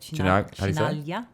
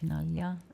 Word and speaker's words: Chinaglia: How do you say it? Chinaglia. Chinaglia? Oh, no G's. No G's. Chinaglia.